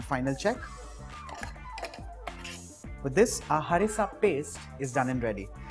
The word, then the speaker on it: harissa: notice and here carefully I am pronouncing it harissa from the epiglottis and not harissa like how most would mispronounce it it is harissa a little bit of